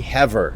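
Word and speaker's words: Havre: course is wrong and some people told me and corrected me thankfully that said that it's actually heever so we will let the city of Heather have her way get it and pronounce it the correct way from now on now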